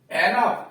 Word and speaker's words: enough: एनफ, ENOUGH, तो यहां OU का उच्चारण अ हो रहा है, एनफ, पर्याप्त।